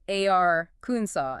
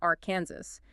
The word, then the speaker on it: Arkansas: Why do we say ar Kunaw and not you know r Kansas?